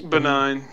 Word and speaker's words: benign: you know you know sign the G and the N is pronounced the same way in this yeah so it is benign benign benign what would